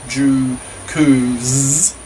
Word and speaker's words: jukus: To exploit this education mania, private after-school grammar schools called jukus, pronounced jukus, have sprung up, which drill students to get better results in the entrance exams.